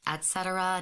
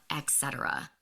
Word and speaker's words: et cetera: It's pronounced et cetera, not etc.